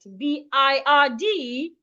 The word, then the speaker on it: bird: When we have letter I and letter R in the middle of a word, it tends to make a long sound. So we should not say bad. B I R D is not pronounced bad. It should be pronounced. But please pay attention to my mouth. I believe everyone can see my mouth clearly. Bird. So B I R D should not be pronounced bed. Please pronounce it as bird.